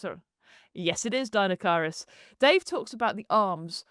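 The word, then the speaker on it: Deinocheirus: pronounce it. Yes, it is Dinocyrus.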